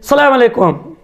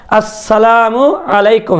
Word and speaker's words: আসসালামু আলাইকুম: উচ্চারণের কয়েকটা রূপ এখানে এক নম্বর রূপ হলো যে সালামু আলাইকুম আসসালামু আলাইকুম এটা কোন সহি সত্য সালাম হলো না আসসালামু আলাইকুম হামজাতে স্পষ্ট থাকতে হবে আবার অনেকে বলে সালামু